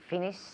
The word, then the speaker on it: finished: Really practice that T. Finished. Finished in the past.